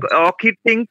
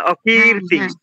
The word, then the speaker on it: অকীর্তিং: এই যে অকীর্তিং, কয় দীর্ঘই আছে, অকীর্তিং। হ্যাঁ, অকীর্তিং, এটা হলো।